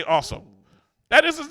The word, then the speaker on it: Awsumb: It do say awesome. That is his name. AWSUMB. That spells awesome. Awesome with a silent B.